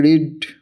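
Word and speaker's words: read: side তো থাকবেই আ book I have recently রিড sorry book I have recently রেড ঠিক আছে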